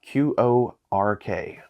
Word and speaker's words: Qork: Today we are doing our review of Qork with a Q, Q-O-R-K, or Qork, if you want to pronounce it like what your components are.